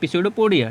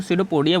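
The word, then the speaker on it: pseudopodia: ठीक है, जिसको क्या बोलते हैं बेटा, एक नकली पैर, जिसको क्या बोला जाता है, पिसोडोपोडिया। ठीक है, पी यहाँ पे साइलेंट होता है तो इसको सीडोपोडिया बोला जाता है।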